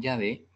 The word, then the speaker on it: Yahvé: Y en el hebreo estas 4 letras que se pronuncian Yahvé significan, ¿qué significan?